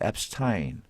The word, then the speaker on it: Epstein: 자, Epstein 발음은 또 앱스틴으로 하더라고요. 앱스타인. 이게 이제 유대인 출신인 것 같기도 한데, 하여튼 이 아인 붙이면 아인슈타인처럼요.